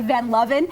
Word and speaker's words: Van Luven: That's spelled like Van Luven, and I know you love to call me Van Luven because it's such a cool It does sound cool, name.